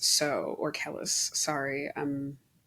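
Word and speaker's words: Kelis: for bounce it was Calvin Harris uh featuring keus so or Kellis sorry um pronunciations anyway um and then the M the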